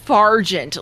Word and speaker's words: Fargent: No, it's just Fargent. Like, I'm far away. How dare you? The T is silent.